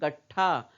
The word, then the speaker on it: गट्ठा: क पड़े, कपड़े, का, ग को पूरा पढ़ रहे हैं, गट्ठा। तो ग पूरा सुनाई दे रहा है, ठा पूरा सुनाई दे रहा है। ट जो है इसको हम पूरा नहीं सुन रहे हैं। क्यों, क्योंकि हम आधा ही बोल रहे हैं। और आधा क्यों बोल रहे हैं, क्योंकि ट के नीचे हल लगा है, हल चिन्ह लगा है।